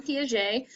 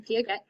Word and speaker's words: Piaget: Well, his name is Jean Piaget. He's French, so please do not pronounce his name Piaget.